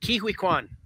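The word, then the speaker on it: Ke Huy Quan: Kihui Kwan.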